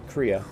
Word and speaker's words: Kriya: Kriya. Kriya. Rhea. It's like Creeah is how you would phonetically say Alright, it.